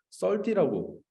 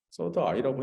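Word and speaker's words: Third Eye: 서드 아이를 썰디라고 영어 한국 썰디. 썰디란 작업을 와파빌라리 했나? 네, 이거를 그렇게 발음했더라고. 좀 이상하지, 그치? 서드 아이라고 해야지. 그래야 이 여러 가지 복합적인 말이 느낌이 다 나지.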